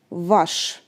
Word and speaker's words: ваш: Here you can see a new letter which is sha, and we pronounce it the sound sh, sh. Ash, vash, your, vash.